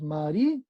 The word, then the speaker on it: María: que también ahí hay una ruptura de diptongo, esta parte que les decía, tenemos María. ¿Cuál es la sílaba tónica?